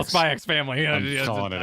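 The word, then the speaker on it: Spy×Family: Said, for maximum chat rage, you should pronounce the X in Spy X Family as cross, like Street Fighter Cross Tekken.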